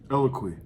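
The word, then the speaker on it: Eloquii: So the third brand, can you pronounce that one? Eloquy.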